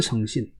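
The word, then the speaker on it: 星辰: 그래서 성진이라고 읽어야 됩니다. 그런데, 자, 이런 거 있죠. 자, 1월 성신.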